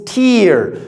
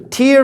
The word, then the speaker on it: tear: As a noun, it means tear. Tear means the eye drops when you cry. You have tears coming from your eyes, right? As a verb, it means tear. Now, tear is when you take a piece of paper and you tear it. You see the difference? Tear, tear. So that's the difference, all right?